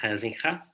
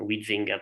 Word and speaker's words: Huizinga: the Dutch historian Johan Huizinga. Yeah, in Italian we all call him Huizinga, but I discovered that in Dutch it should be pronounced Huizinga, I don't know, or something similar.